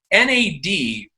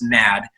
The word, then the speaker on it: NAD: and by the way it's not pronounced mad it is nad it's an acronym and for nicotinamide adenine